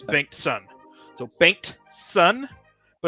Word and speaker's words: Bengtson: So it's actually pronounced Bengtson, but it's much easier to just say Bankston.